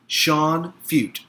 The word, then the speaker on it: Feucht: I'm going to say it that way because I think the CT is silent. Feucht.